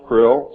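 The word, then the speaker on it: Crlll: name and title was his omnipotent highness Krill pronounced Krill spelled KR l l l or c r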